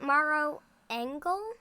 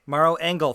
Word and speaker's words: Maro Engel: see the last name is it morrow angle maro engel thank you all right and